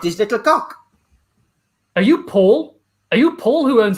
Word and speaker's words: Paul: It's pronounced in France. It's pronounced Paul. But over here, everyone just calls it Paul.